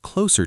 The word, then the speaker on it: clothes: It comes out closer to close, which sounds extremely close to the word close.